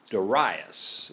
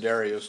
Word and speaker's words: Darius: Darius is actually the way you pronounce that, I found out. Right. I always called it Darius too, but it's Darius.